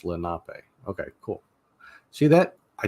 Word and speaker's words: Lenape: so they raised him so lenopay or is it Lenape yeah um I mean I always just pronounce it Lenape because that's what it looked like um I've watched other YouTubers try to pronounce it and add syllables to it and stuff like that it's like no no no you're you're overthinking things I've recently come across